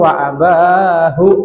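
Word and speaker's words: وأباه: Ibrahim alaihi salamu amsaka anhu syari'u wa abahu, aslinya wa abahu, bacanya wa abah.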